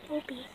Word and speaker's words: Opie: Opie. Rhymes with dopey.